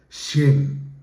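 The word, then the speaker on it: חן: comúnmente traducida como gracia es en hebreo se pronuncia shen asocia con la idea de favor benevolencia y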